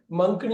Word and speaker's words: monk: ஆனா இது MONKன்னு வர்றப்ப நம்ம வந்து மங்க்னு யோசிக்க மாட்டோம், மாங்க்னு தான் சொல்லுவோம். ஆனா ஆக்சுவலா பாத்தீங்கன்னா மங்க் தான் கரெக்டா ப்ரொனவுன்ஸ் பண்றதுனாக்க.